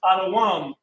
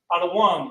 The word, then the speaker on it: Edom: Edom equals Adawam equals Adawam, which means red.